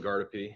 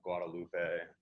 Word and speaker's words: Gardepe: Gardepe is how you say it correctly. Not Guadalupe, not Gene.